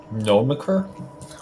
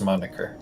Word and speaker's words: moniker: Nomreer name. Is that how it's pronounced? Nom. No, it's it's it's it's Moniker.